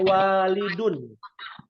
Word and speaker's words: walidun: nih Umah catat ya namanya walidun mirip tuh cuman bedanya ada alifnya harakatnya beda waladun walidun ya artinya